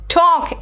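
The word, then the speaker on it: talk: it's balm palm palm मतलब हथेली है ना टॉक एल साइलेंट है वक दान को कहते हैं आम्स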